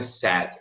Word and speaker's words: said: Então, the doctor said, o doutor médico disse. Said é o passado do verbo to say, dizer, não vai pronunciar say. Said.